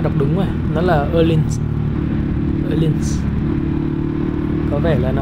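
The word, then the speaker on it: Öhlins: Còn cái thương hiệu Phuộc nổi tiếng này thì chắc là ai cũng đọc đúng rồi. Nó là Erlins.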